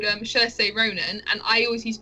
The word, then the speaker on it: Saoirse: So I think it's Saoirse, with an SH sound at the end, but even though there's no H in there.